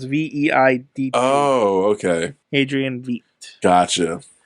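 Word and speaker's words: Veidt: Is his last name Veet or some shit like that? Yeah, his last name is Veid.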